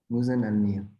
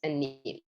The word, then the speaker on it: Alneel: Muzan Alneel. Yes. So the L in Alneel is kind of silent. It goes Alneel.